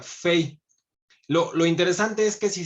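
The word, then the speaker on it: פ: como la estamos viendo, es como se debería de pronunciar como pay, pero es una letra doble, lo vamos a ver en esta siguiente diapositiva, en donde el puntito o dagesh, que se llama, el puntito que tiene en el centro, haría que la pronunciación fuera directamente al unir los labios como la P, como P de Pedro, ¿no? Eh, pero si quitáramos este puntito, se pronuncia como una F, sería fei.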